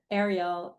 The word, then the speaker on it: Ariel: the Little Mermaid and Ariel. So that's how I even just now you pronounced your name differently. You sort of said Ariel and then Ariel.